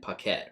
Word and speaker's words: Paquette: Basically, it sounds like, so how do you say last name again? Paquette, right? So if you got like